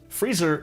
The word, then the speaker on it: freezer: But, the Cockney dialect and most dialects of England are non-rhotic, meaning that the R consonants are only pronounced before vowels. Freezer in North American English is freezer in Cockney English. And, Lisa rhymes with freezer.